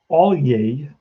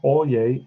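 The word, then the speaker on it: Alyea: have a kid called brant all yay that's how you pronounce that name brandt olye and he is at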